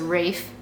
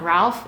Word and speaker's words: Ralph: had heard it somewhere that it was Rafe not Ralph even those pronounce the